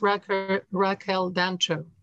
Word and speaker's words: Raquel Dancho: Well, one comes to mind, and that's Raquel Dancho. Yes, that's how you pronounce it.